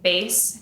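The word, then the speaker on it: Béis: And so I kept seeing the base, that's how you pronounce it, the base bags, Shay Mitchell's brand.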